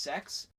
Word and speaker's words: CeX: CeX it's literally called It's pronounced sex but it's with a C every time I went